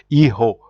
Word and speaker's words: hijo: For example, the J in Spanish is pronounced like a H. So for example, if you see the word you see my son, you will say hijo.